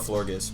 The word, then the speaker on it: Florgus: I call it Florgus. With a hard G.